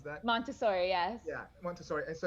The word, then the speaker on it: Montessori: So you've done what's it, Montessori? Is that what how you pronounce that? Montessori, yes.